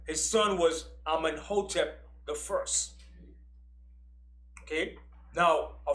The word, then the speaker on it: Amenhotep: His son was Amenhotep the first. Okay? Now, a pharaoh in Egypt had two names. He had his birth name, which was Amenhotep, which means Amun is at peace with him.